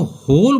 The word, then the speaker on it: whole: जैसे कि WHOLE, इसको होल बोलेंगे, होल, जबकि बनता है डब्लू से।